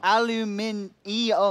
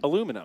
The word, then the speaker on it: aluminium: Aluminium. It says I-U-M. Aluminum. Do you spell it without the I?